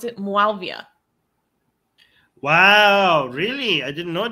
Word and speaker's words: Muawiyah: enforcers of this regime to how do you pronounce it? Muawiyah. Wow, really? I didn't know that. Yes. Muawiyah.